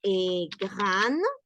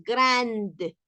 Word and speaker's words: grand: muak y miren nasal no decimos grande A menos a menos que estemos hablando del del femenino de grave si es un adjetivo Entonces sí podría pronunciarse pero no la de ojo sino que un sonido de la e sin tilde Entonces ahí es donde